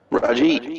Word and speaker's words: Rahjeet: Is that how you say it? Rajit. Rahjeet, you got it.